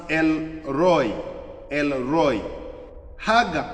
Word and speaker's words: El Roi: There is pronounced uh pronounced El Roi.